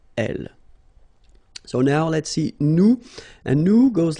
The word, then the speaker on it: nous: So now let's see nous, and nous goes like I-O-N-S, okay, and it should be pronounced ion.